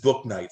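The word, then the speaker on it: Bouknight: It is Book Night, surprisingly.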